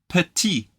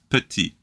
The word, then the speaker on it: petit: short or small is petit the letter at the end is silent we love silent letters in French but the one in